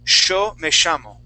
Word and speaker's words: yo me llamo: And they can say yo me llamo. Right. So that's how they pronounce yo me llamo.